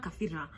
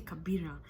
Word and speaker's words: Kabira: she'd say Kafira. And I'm like, he's gonna write an F. Just say Kabira. But yeah, now you know the correct pronunciation of my name.